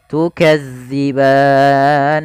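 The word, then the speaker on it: تُكَذِّبَانِ: thaii fathah bertemu Alif tukadziban hati-hati tukzi jangan diganti dengan Z ban nah ini Mat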